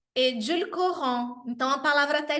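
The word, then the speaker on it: édulcorant: O adoçante é edulcorant. Edulcorant. Então, a palavra até é difícil de pronunciar. Eu sugiro que você dê uma treinada. Edulcorant.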